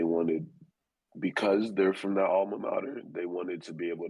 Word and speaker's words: alma mater: Why are people so obsessed with their all-in-monters? How do you say it? Alma All-in-monters? mater. All-in-monters? Yeah, Ama. Mm-hmm. And like, would you do this for your alma mater?